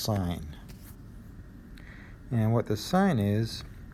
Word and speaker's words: sine: is what's called the sine ratio it's felt SI and I and E on a calculator it's just shorted shorted to SI n they don't call it sin it's pronounced sine and what the sign